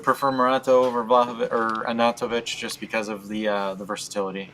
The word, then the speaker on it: Arnautovic: So it's Arnautovic. I kept saying Artanovic. Now I know it's wait. How do you say it? Artanovic? Arnautovic.